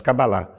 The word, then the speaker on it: cabalá: e tal usar eh o termo cabalá né não cabala mas cabalá para haver uma uma um consenso né da pronúncia então a cabalá em